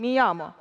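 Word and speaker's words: llamo: Оце дві буковки L дають звук Y. Попробуйте прочитати. Міямо.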